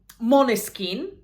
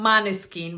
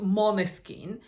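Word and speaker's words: Måneskin: won uh with um mon skin that's how it's really pronounced I know that it's written man skin but it's actually pronounced mon skin cuz if I'm not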